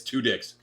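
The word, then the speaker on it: Tudyk: amazing i watch him and that's how you pronounce it it's two dicks seriously um hilarious he is funny he's great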